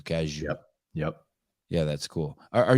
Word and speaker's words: Cazayoux: Yeah, also, they know that OUX is you, Cazayoux.